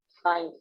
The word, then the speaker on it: science: SCIENCE, क्या है ये? साइन। साइन। साइन। यहाँ पर जो सी है वो साइलेंट है।